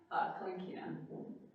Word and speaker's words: Kalinkina: Kalinkina. Oh, can you spell that?